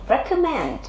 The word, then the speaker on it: recommend: Nhưng mà động từ này khác là trọng âm rơi vào tiết số 3.